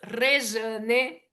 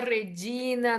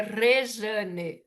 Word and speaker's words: Rejane: Entonces, para los nuevos, me gusta siempre que aprendo a pronunciar mi nombre, es Rejane. Não é Regina, não é Rede, é Rejane, Rejane.